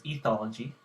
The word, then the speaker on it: ethology: I learned up I I looked up the pronunciation this is ethology study of animal behavior and behavior the definition